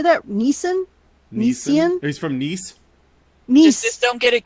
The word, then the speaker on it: Nice: He's from Nice.